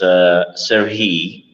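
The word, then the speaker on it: Сергій: In Ukrainian, it's a little bit different from Russian. It's Serhiy.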